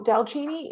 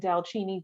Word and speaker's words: DALCINI: me look into so delcini is a word that we just ended up creating and dalchini the word is actually an Indian word that sounds Italian or the pronunciation is Italian and that's because my